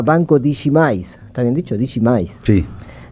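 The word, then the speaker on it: Digimais: Creo que lo voy a pronunciar bien. El banco se llama Banco Digimis. Está bien dicho. Digimis. Sí, Digimis, que es un banco que le pertenece a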